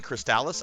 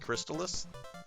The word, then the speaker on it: Crystalis: I keep saying Cristales. I think it's actually pronounced Crystallis.